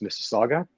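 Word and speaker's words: Mississauga: Clement I'm here in mississaga near Toronto for those of you uh who can't pronounce anoun Miss Saga um so I'm uh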